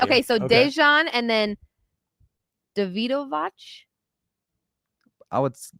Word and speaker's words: Dejan: Okay, so why would you pronounce that J different? Well, the thing is, I know because I had an instructor whose name was Dejan, and he said that's how you pronounce. Interesting. Okay, so maybe when a J is in between letters, it's pronounced a little bit different than if it's like Jokic.